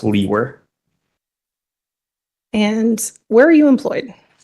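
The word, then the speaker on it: Liewer: name is and my last name is spelled l-i-e-w-e-r and it's pronounced Lee were and where are you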